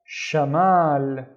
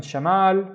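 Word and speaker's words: شمال: The first syllable is sha sha and the second syllable is this is the ma remember ma mal. Shamal and Shamal means north. Shamal.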